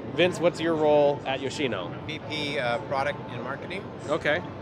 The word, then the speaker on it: Yoshino: Yes, Yoshino.